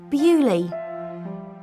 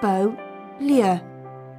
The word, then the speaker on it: Beaulieu: and today i'm in bewley bewley is a small village it's in england but bewley is a french word in english we say bully but in french it's beau liu beautiful place and it really is